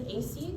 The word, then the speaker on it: Ecy: So the main topic here, you're going to put, so my name is AC, it's spelled ECY, so I'm gonna write AC's personality grid.